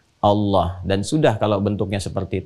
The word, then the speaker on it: Allah: A lagi, kemudian H, dibacanya tetap mengembalikan kepada diksi aslinya, tulisan aslinya dalam bahasa Arab, yaitu Allah, ingat ya, Allah.